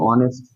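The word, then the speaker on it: honest: যেমন আমি যদি বলি অনেস্ট তুমি অনেস্টটা পড়ে দেখো দেখো স্বরেও আসতেছে অনেস্ট তাহলে দেখো স্বরে আসছে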